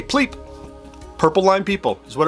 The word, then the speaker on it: PLP: Pronounce it, it's easy to say. Pleep.